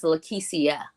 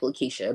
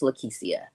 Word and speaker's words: Lekecia: how it just looks it looks like Lisha but it's not it's it's pronounced lisia okay so right go